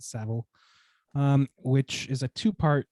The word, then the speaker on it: Savile: new netflix documentary about jimmy seville is that savile excuse me i think they pronounce it savile um which is a